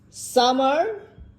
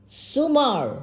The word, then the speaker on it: Sumar: Summer. Summer. Summer. No, miss, not summer. Then? Summer. Sumar. Yes, miss.